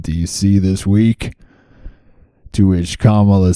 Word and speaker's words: Kamala: now it's time for Kamala to shine and for all of us to learn how to say her name I think I said it right Kamala not Kamala Kamala get with the